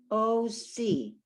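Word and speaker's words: עושי: That ayin, it has no sound except for its vowel, which is an O vowel. Like, remember, oh, my head, if I put something heavy on your head. And when the sin is on the left, sin has a dot on the left, it's an S sound, O-C.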